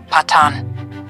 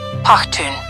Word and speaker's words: Pakhtun: The term Pathan is the Indian mispronunciation of the name the Pathans give themselves. Pakhtun.